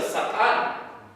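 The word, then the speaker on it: שָׂטָן: está hablando y Satanás la palabra Satanás viene del hebreo que significa que se pronuncia satán lo cual significa acusado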